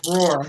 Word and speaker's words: Roar: thank you and that's Roar not I'm sorry Roar I'm sorry I I mispronounced your name how do you say it roar like the lion oh Roar okay okay